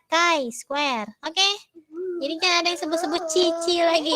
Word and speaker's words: chi-square: yang indah ya Mah bacanya bukan chi-square ya Indah Kai Square Oke jadinya disebut-sebut Cici